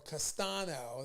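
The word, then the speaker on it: Castaño: charlo versus brian castillo castano and or castano that's how you say his name sorry about that all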